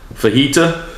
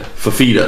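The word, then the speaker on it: Fifita: Now, Fajita, is that his name? Fafita, sorry, not a fajita, not something you eat.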